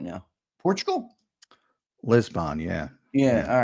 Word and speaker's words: Lisbon: It's pronounced Lisbon, by the way. Lizbun. BUN.